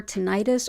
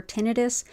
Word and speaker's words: tinnitus: Also helpful for tinnitus or tinnitus. I've heard it pronounced both ways.